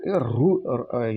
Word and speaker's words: ऋ: ना, अभी इसमें आजकल रू, मराठी में रू बोला जाता है और हिंदी में री बोला जाता है, यानी ऋषि के लिए री, और मराठी में ऋषि के लिए रू। मतलब थोड़ा सा उच्चारण में